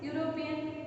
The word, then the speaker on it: European: But here, how we are pronouncing European? It has a consonant sound.